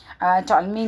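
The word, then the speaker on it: Ptolemy: कि इन्होंने जो है टॉलेमी ने दिया था ये सिस्टम, हमारा इंट्रोडक्शन था ग्रिड सिस्टम का। ठीक है, अब गूगल पे मैं देख रही हूँ तो टॉलेमी का पी जो साइलेंट आ रहा है, तो आप देख लीजिएगा, स्पेलिंग याद कर लीजिएगा।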